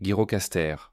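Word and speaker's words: Gjirokastër: Agirocaster prononcé Girocaster, une ville riche en histoire.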